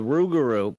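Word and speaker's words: rougarou: The Rugaroo is supposedly a So, it's basically like a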